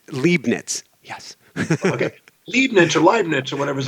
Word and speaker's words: Leibniz: act before that who was and i completely butchered his name at the beginning we're going to go for it again gottfried wilhelm leibniz leibniz yes okay leibniz or whatever is a german philosopher